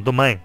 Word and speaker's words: domain: o dem size né dem Não domain é assim que se pronuncia eh o o tamanho